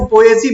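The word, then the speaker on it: Poaceae: ग्रैमनी family का एक दूसरा नाम भी है, उसको पोएसी बोलते हैं।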